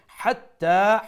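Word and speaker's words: حتى: হিয়া তাড়াতাড়ি, hatta, ha from the middle of the throat, the big ha as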